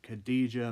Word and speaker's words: Khadija: name written down here khadijah Mela I'm sorry if I mispronounced that Khadija that's how you pronounced it but congrats to